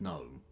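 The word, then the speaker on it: Noem: she offensive I mean you can you can misspell it all you like it's gnome I'm just saying it's immigration and so on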